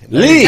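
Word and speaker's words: Leigh: Lee. Not L-E-I-G-H, but pronounced Lee.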